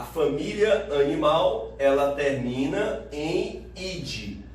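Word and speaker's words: -idae: Por exemplo, a família animal, ela termina em id. Não se pronuncia o A antes do E. Então não é idai, não é reino plantai.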